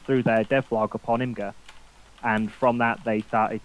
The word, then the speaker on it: Imgur: you told me off last week for a mispronunciation so i thought i'd better check uh this week so we're going with imgur yep yep so what they did was is